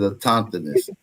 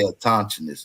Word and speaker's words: autochthonous: I say a tauntiness. But so you can take whatever part of it out that you want to. A tauntiness. Because it's AUTOCHTHONOUS. So a tauntiness. Yeah, you can pronounce it like that, brother.